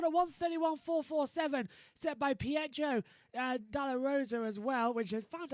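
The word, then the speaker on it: Pedro de la Rosa: corner that record at 131 447 set by joe dala rosa as well which had found out that's how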